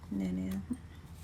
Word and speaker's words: Nanan: I say it like that because that's what we used to call my great grandma, Nanan.